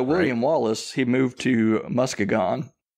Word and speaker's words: Muskegon: 1920 and moved to how do you pronounce it earlier Tom Muskegon Muskegon people pronounce it yeah Michigan people pronounce it Muskegon but I appreciate your creativity so William Wallace he moved to Muskegon like her writing some